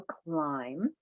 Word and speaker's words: climb: ending past tense Ed we have climb which is the blend in the beginning silent letter pattern with that B it's not climb a climb right vowel team with break